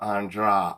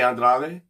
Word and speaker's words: Andrade: male name andra and she pronounces it just a portuguese way just like they say h instead of r so it's jessica andra andra okay i don't